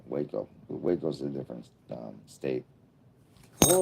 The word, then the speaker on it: Waco: So it's Wasco. Like Roscoe. The branch divinity.